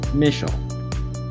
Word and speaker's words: Mischel: Don't be confused by the SCH, it's some German thing. Just pronounce it SH, like this, Mischel.